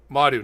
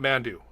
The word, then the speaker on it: Madu: Emilu Madu. Madu, not Mandu. Emilu Madu.